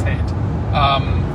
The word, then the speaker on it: Haight: Okay, it's Haight.